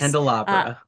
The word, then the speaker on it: Handelabra: the stuff from uh oh God I keep getting this name wrong Handel laar Handel laar handar yes handelabra handelabra I'm very good at reading names I'm very